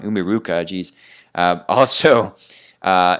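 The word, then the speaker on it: Umiiruka: roaring ocean snake again for umikura i feel like i'm saying it wrong umiruka jeez uh also uh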